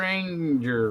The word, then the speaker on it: Anger: Anger rhymes with danger.